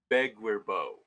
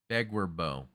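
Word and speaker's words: Beguir-Beu: Okay, how is it pronounced? Begwerbo. Begwerbo.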